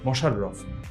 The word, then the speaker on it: মশাররফ: কিন্তু হয়ে যাচ্ছে মশা মশাররফ তো মনে হতে পারে যে মোশাররফ আমি উচ্চারণ করছি কিন্তু কেন মোশাররফ লিখছি আসলে এইগুলো আমাদের খেয়াল